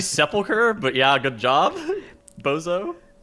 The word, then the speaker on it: Sepulcher: about nissent and uh the tears faulker or sepulcher or however you guys want to wrongly pronounce that word also um we have it's actually sepulcher but yeah good job